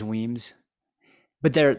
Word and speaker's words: Wemyss: for, like you said, the Weems or Wemyss, I think is Weems, but they're Yeah, like I'm the not sure the scrim.